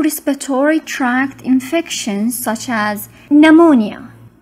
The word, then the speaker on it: pneumonia: tract infections such as pneumonia pneumonia p is silent pneumonia pneumonia it is defined as